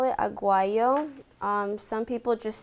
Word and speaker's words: aguayo: a Guang AG oh I say with the G aw aw aw ay why you we're staying in South America say it like that did you know that